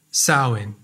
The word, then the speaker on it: Samhain: the new year was a celtic festival called saowin this word is hard to pronounce so i'll say it again saoin this day marked the end of summer and